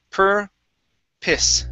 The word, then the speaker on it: purpose: purpose okay the uh this word is pronounced per piss purpose purpose there you go yeah so the o s e is actually piss okay okay good next